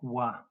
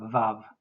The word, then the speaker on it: vav: In modern Hebrew, the sixth letter of the alf bet is the letter vav, which as a consonant has a v sound.